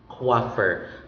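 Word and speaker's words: coiffeur: a French origin because the oi is sounded as wa. Wa, hence the pronunciation coiffer, because the letter C in the transcription is represented by lowercase letter K, which is pronounced as coiffer.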